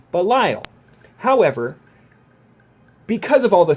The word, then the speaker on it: Belial: is pronounced Belial and it's pronounced that way in the Bible and in many other situations like Dante's Inferno when they're talking about the various devils and this that in the other it is Belial however because of all